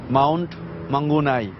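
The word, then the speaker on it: Mount Maunganui: আসলে ভেন্যুর নামটা আসলে মাউন্ট মাঙ্গুনাই।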